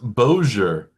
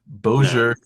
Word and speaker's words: Bossier: Oh, it's pronounced Boer City, Louisiana. Obviously B O S I E R. Bojer City, Louisiana.